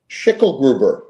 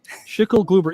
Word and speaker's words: Schickelgruber: Schickelgruber. Schickelgruber. You know, I like that because it's like 27 letters, but only 3 syllables.